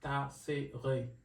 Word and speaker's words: Tassere: So to say it correctly is Tassere.